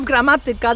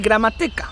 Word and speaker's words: gramatyka: Stress always goes on the second to last syllable. But give us some examples. Okay, you want examples? koza, wiewiórka, hipopotam. There you have it. Even with words that are not like that, for example, chodziliśmy, gramatyka, Polish people will try to change the stress to the second to last syllable. So instead of gramatyka, they would say gramatyka. And instead of chodziliśmy, they would say chodziliśmy.